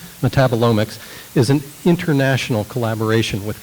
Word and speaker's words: metabolomics: This endeavor, referred to as metabolomics, thank you, emphasis on the wrong syllable, metabolomics, is an international collaboration